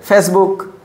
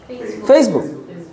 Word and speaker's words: Facebook: ফেসবুক, but how should we pronounce this word? Facebook.